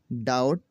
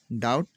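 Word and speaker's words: doubt: अगर किसी लफ्ज में एम के बाद या टी से पहले बी आता है तो यह बी हमेशा साइलेंट हो जाता है।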